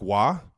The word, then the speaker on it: Roy: I got Mark Maguire I got Patrick Wah also known as Patrick Roy in the Kelsey household because dad only pronounces things one way, his way.